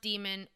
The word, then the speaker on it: Daemon: So, someone may say it is pronounced demon. There is literature to prove that. I don't care. I think it should be pronounced Daemon because we have the word demon, and it is a different word, and we're going to